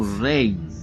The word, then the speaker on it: Raynes: they call me re oh Reigns there you go that's that's his correct pronunciation it okay what does